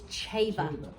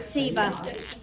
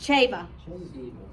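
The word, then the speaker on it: Ceva: It's Chava. Chava. It's not Siva. It's not Siva. It's Chava. So we have some other lines. Pronunciation guy. It's pronounced Chava.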